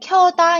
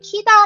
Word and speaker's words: 켜다: 더 나은 번 보도록 하겠습니다 일곱번째 단어는 휴대전화를 켜다 입니다 이 단어의 뜻은 말그대로 꺼져 있던 휴대전화를 켜는 것을 말해요 포어 문은 리갈 오세근 날 이라고 하죠 많은 사람들이 켜다 로 이야기할 때 희가 라고 잘못 발음하는 경우가 많아요 그거는 잘못된 표현이